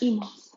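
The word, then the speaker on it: -imos: It's pronounced imos, spelled I-M-O-S, that ending.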